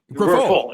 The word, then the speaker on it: Grifol: So it's Grifol, right? Pedro Grifol. Yes, Grifol.